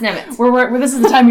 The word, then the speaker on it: Nemec: So it's kind of like it looks like Nemec. But it's not. It's Nemec.